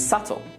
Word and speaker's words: subtle: Det, doubt, and subtle. Now that you know that we don't pronounce the B in these words, try reading this sentence out loud.